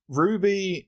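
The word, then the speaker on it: RWBY: you seen a written down before so it's Ruby it's Ruby Rose and W is Wiese and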